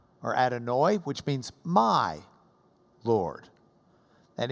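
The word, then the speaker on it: אדוני: You can add I, unless you're Ashkenazi, in which you'd add oi, to the end. And you could say Adonai or Adonai, which means my Lord.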